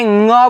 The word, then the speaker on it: ञ: इसे ञ बोलते हैं। इसे ञ बोलते हैं। क्या बोलते हैं? ञ। ठीक है? समझ में आ रहा है ना? अच्छे से उच्चारण करना है। इसे ड नहीं बोलना है।